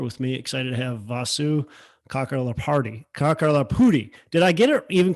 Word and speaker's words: Vasu Kakarlapudi: Why don't you say it so our listeners get the real, pronunciation? Yeah, Vasu Kakarlapudi.